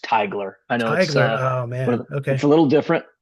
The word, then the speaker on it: Teigler: Um, just a word of clarification, the last name is pronounced Tigler.